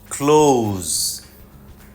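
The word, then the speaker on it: close: সহজেই আমাদের ভুল হয় সি এল ও এস ই ক্লোজ না ক্লোজ শব্দটা যদি ভার্ব হয় তাহলে জি সাউন্ড হবে ক্লোজ ক্লোজ please ক্লোজ the door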